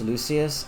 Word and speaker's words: Lucius: know Mando I know it's Lucius I am specifically and intentionally using the Vulgar Latin pronunciation because I like to do that when I see Latin names um lucus see the real question